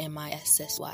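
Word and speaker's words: Mici: Mrs. spelled M-I-C-I and pronounced M-I-S-S-Y. That's right. You need the pen? Grab one. M-I-S-S-Y. That's how you pronounce Missy.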